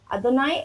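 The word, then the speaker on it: אדני: Name of God, Adoni Haaretz. Adoni Haaretz. So please help me in the pronunciations. I also have... Adonai Haaretz. Yeah, Adonai. Adonai And what is this pronounced?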